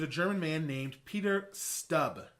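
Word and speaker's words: Stumpp: He was a German man named Peter Stubb. It's spelled like stump, but it's actually pronounced stub.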